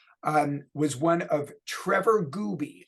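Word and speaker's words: Gouby: was one of Trevor Gooby I will spell that for you it is gou b y Gooby um who was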